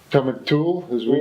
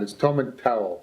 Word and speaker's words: Tomintoul: He's the distillery manager here at Tomintoul, or Tomintoul, as we. Oh no, Tomintoul is the correct pronunciation for that. I'm in trouble already. Oh yes. See, I'm from Turriff, and we would say Tomintoul, but No.